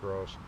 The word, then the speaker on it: Gross Reservoir: the mountains and we walked around uh by gross reservoir above boulder it's grss grass reservoir but it's pronounced gross gorgeous clear water high mountain reservoir with no